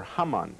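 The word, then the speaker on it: Haman: in Hebrew um appointed hmon or hamon as he is pronounced in Hebrew hamon was a descendant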